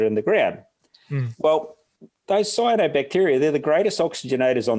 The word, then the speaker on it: cyanobacteria: Cyanobacteria.